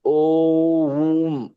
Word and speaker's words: ओम: लेकिन ओम में एकाग्र, जब हम ओम बोल रहे होते हैं तो हमारा ओ, आ, उ और माँ उस से बहुत प्यार से बोलना चाहिए। ओम ऐसा बोलते हैं।